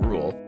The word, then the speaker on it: RVLE: The theme music for Bants is the track Time With You by Talif featuring Rule. That's spelled RVLE, and it's provided by No Copyright Sounds.